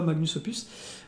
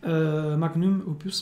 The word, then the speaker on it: Magnum Opus: Magnum Opus, pardon, ou je ne sais plus comment ça se prononce, bref. Moi, c'est Magnus Opus que je dis, même si c'est pas comme ça que ça se prononce.